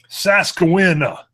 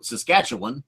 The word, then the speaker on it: Saskatchewan: All right, so today we have from Saskatchewan, and we received the proper pronunciation before we went live. We wanted to call it Saskawina. No. Close. You called it Saskatchewan? But from Saskatchewan.